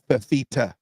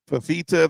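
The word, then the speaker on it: Fifita: I agree with you it's three syllables faita faita the quarterback from Arizona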